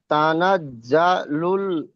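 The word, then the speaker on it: تَنَزَّلُ: মালাইকাতুহুত তানাজজাল লুল মা এইটা জীবের আগা এবং সামনের উপরের দুই দাঁতের আগা এবং নিচের দুই দাঁতের আগার সাথে উচ্চারণ হবে তানাজজালুল তানাজজালুল তানাজজালুল মালাইকাতুহু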